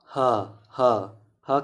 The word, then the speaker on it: ह: और इसलिए स वत्सर्य और ह कंठ, ह को कंठ, ह ह ह क्या है? कंठ से निकलता है ह।